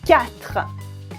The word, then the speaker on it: quatre: 4 is quatre. Quatre. As you can hear, I don't say the U, I don't say the E at the end. Quatre.